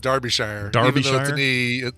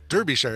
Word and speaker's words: Derbyshire: know what you do it's actually believe it or not pronounced Derbyshire it looks like it should be Derbyshire it's Derbyshire well I don't feel bad